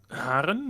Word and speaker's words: Haren: and then we crashed Haren am I pronouncing that correctly Haren yes Haren Asen aen that's the